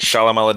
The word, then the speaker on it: Shyamalan: Night Shyamalan Ding Dong. That's right. That's the Me and proper Chief pronunciation.